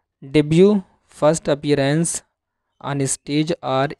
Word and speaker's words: debut: डेब्यू first appearance on stage are इन any event. अब देखिए T silent यहाँ पढ़ेंगे, डेब्यू, ठीक है, यानी पहला प्रदर्शन।